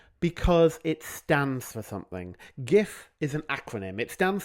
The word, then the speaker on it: GIF: talk about is the fact that it is pronounced GIF. Some people disagree with me. Some people pronounce it JIF with a soft G.